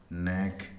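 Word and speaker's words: neck: आ रहा है तो उस सी के में के साइलेंट होता है उसका उच्चारण नहीं होता है केवल केवल सी का उच्चारण के होता है जैसे आर ए सी के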